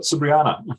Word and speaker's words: Sabriana: we go we've got sabriana is that how did I say your name right yes you're saying it correctly my name is sabriana